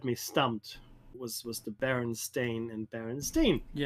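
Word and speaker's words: Berenstain: It's stein, right? But it's stain in English. That's how you pronounce it. Well, if it was always Baron Stain, why wouldn't you say Baron Stain Bears?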